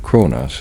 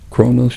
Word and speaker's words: Kronos: with Kronos himself, the Titan king who had held the whole soft world together.